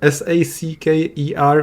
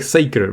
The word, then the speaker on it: Sachar: Wikipedia pronounced and then Sacker, which helped a lot. So I guess it's like Saker, but I have no idea.